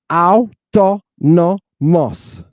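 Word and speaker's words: αὐτόνομος: Look, a Greek word has as many syllables as it has vowels or diphthongs. Watch this. How many syllables? 1, 2, 3, 4. Autonomos.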